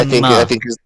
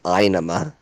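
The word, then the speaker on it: Ænima: Inema, Anima. I think the way that symbol is written, the correct way to pronounce it is I. So technically, the correct way to pronounce it is Inema.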